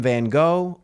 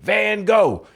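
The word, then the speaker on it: Van Gogh: So, um, again, I'm presenting Vincent William Van Go or Van if I was attempting to pronounce it properly in Dutch.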